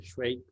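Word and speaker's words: Švejk: Schweik is spelled or written in with certain whatever accented characters, but you could write it as SVEJK. The S has a crown or whatever. Schweik.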